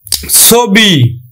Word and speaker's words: ছবি: যেমন দেখো ছবি, দেখো আদ্য অ এর পরে কি আছে? রস্বইকার আছে, তাহলে উচ্চারণ হবে কিন্তু ছবি।